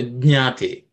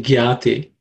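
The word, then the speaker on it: jñāte: So Jnate. It's the letter, the word should start with Ja, and then we should say Nya. Jna.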